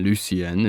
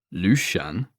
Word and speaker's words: Lucien: He said it perfectly, too, with the half swallowed softness of the final syllable, smiling at me, the first full smile I'd seen from him.